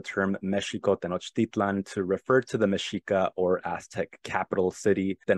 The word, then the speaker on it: Mexica: to referred to the Spanish conquest of the meshika in 1521 as the quote conquest of Mexico